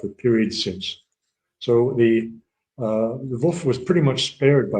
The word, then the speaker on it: Lvov: I'm sorry, yeah, LVOV.